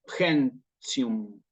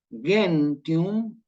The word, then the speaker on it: gentium: Esto sí es el derecho de gentes, pero nosotros la G en latín no lo pronunciamos como en español. Esto que está acá. ¿Sí? Nosotros esto lo decimos como G, va a sonarnos en latín clásico, ¿sí? Como una G, como guiso, por ejemplo, ¿sí?